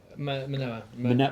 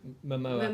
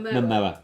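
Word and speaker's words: Momoa: Manoa. Is it Manoa? Mamoa. Mamoa. Thank you.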